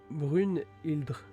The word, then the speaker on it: Brynhildr: Brynhildr, pronom Brunhildr.